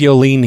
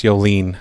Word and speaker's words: Yoline: Oh, no, it says Yoline here. You're wrong. It's Yoline, not Yolin.